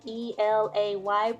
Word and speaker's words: Elay: Hey guys, it's me, Elay, Elay, pronounced like LA, like the city.